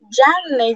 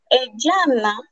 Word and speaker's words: Janne: Y él decía como, Janne, Janne. Y yo levanté la mano y yo le dije, Yanna, usted está diciendo Yanna.